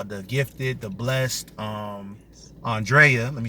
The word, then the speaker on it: Andrea: so um nickname drea obviously my name is pronounced andrea i'm 23 year old 23 year old 23